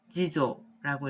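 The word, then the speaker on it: 次女: 초조라고 읽고요. 뜻은 장녀 혹은 맏딸이란 뜻이 되겠습니다. 다음으로 차녀라고 쓰여 있으면 한자로는 지조라고 읽으시면 되겠고요.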